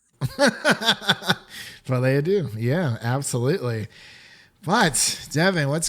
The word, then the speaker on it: Folie à Deux: It's Folie Adieu. Folie Adieu.